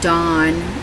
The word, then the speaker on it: Dan: the tribe of Dan the dawn is how you say it in the Aramaic Hebrew when he speaks to